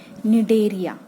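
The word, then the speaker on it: Cnidaria: दूसरा नाम क्या है निर्णय सी इस साइलेंट है निर्धन फाइलम जितने भी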